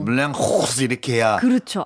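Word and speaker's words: Moulin Rouge: 그 물랭루즈 네. 그 영화 나오는 그 술집도 있고요. 네. 파리에서는 물랭루즈라 그러면 택시 기사가 못 알아들어요. 그 불어가 그렇더라고요. 오. 물량 호스 이렇게 해야 그렇죠.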